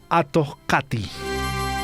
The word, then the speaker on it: Atohkati: para brindarnos información del Atohkati. Está bien pronunciado, Atohkati. Antes dije Taki, ¿no? El canto del zorro. Sí, Atohkati. He dicho el Atohkati, el canto del zorro. Entonces me corrijo.